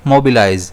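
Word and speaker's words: mobilize: इसे हम प्रोनाउंस करेंगे मोबिलाइज जिसमें स्ट्रेस जो है वो एम पर रहेगा।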